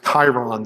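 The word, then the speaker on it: chyron: Uh they have this Chiron that scrolls across the bottom and uh yes, that's how it's pronounced.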